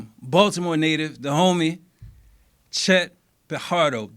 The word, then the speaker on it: Pajardo: Baltimore native, the homie, Chet Pajardo. The J is silent. J silent. I'm glad you caught it. You did a good job. You did a good job because a lot of people say Pajardo, but it's really Pajardo in Spanish-speaking countries.